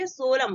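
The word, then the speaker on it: column: इसको 16 में नहीं बोलेंगे इसको क्या बोलेंगे कलम बोलेंगे नेक्स्ट एग्जाम सी ओ और दी आई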